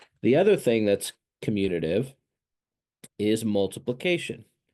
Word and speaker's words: commutative: Pronounced commutative or sometimes commutative.